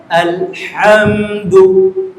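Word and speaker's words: الحمد: মাসকবে তখন যখন বলবেন আলহামদু আলহামদু এখানে বলবেন এখানে জিন হা আছে না এই হা এখানে ওয়াও হা নয় গলা থেকে উচ্চারণ করেন আল হামদু তখন তার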